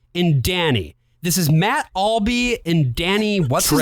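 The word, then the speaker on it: Albee: inspired him and then pronounces his name wrong they call him Matt Albi the entirety of the show and it's Matt Alby his name is Edward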